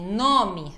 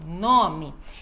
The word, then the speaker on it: nome: essa palavra ela é paroxítona que nem nome Ó enfase no nó então nome é feijão você quer